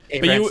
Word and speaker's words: Avarence: Avarence is how you say it.